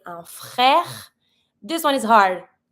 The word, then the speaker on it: frère: French R is not easy. You can try to do it on your own. Un frère. I pronounce everything, but not my last E because it's mute. There's no accent on it, so I'm not going to pronounce it.